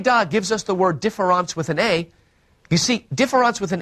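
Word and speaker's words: différance: gives us the word difference with an a you see difference with an e or difference with an a are pronounced exactly the same in French so the only way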